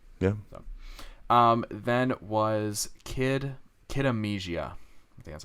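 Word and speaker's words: Kid A Mnesia: looks pretty cool yeah um then was kid kid amnesia that's how you say it that comes out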